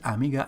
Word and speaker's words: amiga: Because the stress in this word amiga is on second syllable.